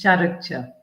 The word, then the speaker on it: Jooma: It's Çarıkçı. So think of curry khichdi.